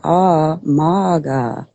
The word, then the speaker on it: Maga: Okay, so when you say ah, maga, that's really how you say my name.